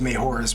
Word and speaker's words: Majora: Case in point, the direct sequel to the Ocarina of Time is Majora's Mask. It's actually Majora, but growing up Hispanic, I just find it more comfortable pronouncing it that way.